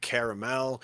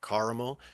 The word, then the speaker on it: caramel: We get talking about some uh caramel or caramel depending on how you like to pronounce it or what kind if you're under my influence and opinion.